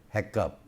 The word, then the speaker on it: HACCP: a CC p insured may be said heck up in many cases people do pronounce it as a cup but it is a